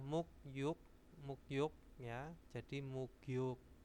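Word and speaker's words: 목욕: di sini adalah muk yuk mukyuk Ya jadi mugyuk bacanya mugyuk Nah itu mandi terus hangguko bahasa Korea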